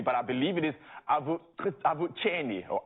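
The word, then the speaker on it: Avuxeni: I believe it is Avucheni or Avucheni. So it's really like that the X is pronounced without the K. It's like a ch.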